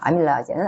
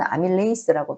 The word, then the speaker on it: 아밀레이스: 개가 어 들어 있습니다 아밀라아제는 아밀레이스 발음합니다 자 밀가루는음 제분하여 과정이